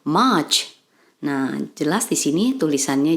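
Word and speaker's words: March: y kemudian yang ketiga Maret kita ucapkan dalam bahasa Inggris much nah jelas di sini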